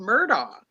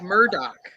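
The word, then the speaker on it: Murdaugh: was all unfolding and everybody always criticizes the way I say it because I want to call him Murdoch because his name is spelled Murdoch. Yeah. No, it's because he's a murder in South Carolina. Cuz he's a murder. Murder. Murder. But it is it's like Murdoch.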